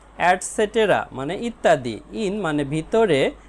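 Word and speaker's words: et cetera: project work প্রকল্প কাজ ইটিসি এর উচ্চারণ হবে অ্যাডসেটেরা মানে ইত্যাদি ইন মানে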